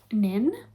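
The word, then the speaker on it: Pnin: And so I've picked up Nin. I think it's just Nin, you don't pronounce the P, and this is about a professor.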